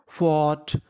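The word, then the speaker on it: fought: FOUGST, फॉट, फॉट।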